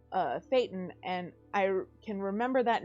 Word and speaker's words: thetan: And it's Thetan, and I can remember that now because a